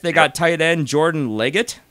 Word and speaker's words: Leggett: got tight end Jordan Leggett is that how you say it yeah with two G's and two T's interesting and fifth they